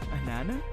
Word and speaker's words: Anana: Anana is how you pronounce it.